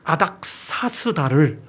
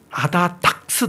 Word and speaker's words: 아닥사스다: 합니다 그게 뭔가 하면 아닥사스다 7년이라는 표현이 성경에 나오는데 그 아닥사스다 시종 아다 닥스 아라고 발음합니다 지금도 유튜브에 다 떠